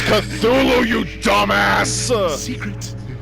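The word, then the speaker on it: Cthulhu: uh yeah uh Jack it's not chulu it's pronounced cthulu cthulu I'm not even a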